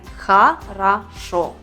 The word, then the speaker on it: хорошо: есть три буквы о но произносим мы хорошо почему давайте разберемся хорошо здесь как мы видим три слога один должен быть под ударением и этот третий последний слог отсюда выходит провела весь а буква о слове под ударения то оно произносится как о а если она стоит без ударения то будет звук а предлагаю попрактиковать ударную и